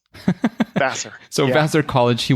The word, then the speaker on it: Vassar: How's that pronounced? Vassar.